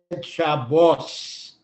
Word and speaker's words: Shabbos: have learned to read Hebrew in the ashkenazic pronunciation where this was always off you said Shabbos the tough without the dot was s you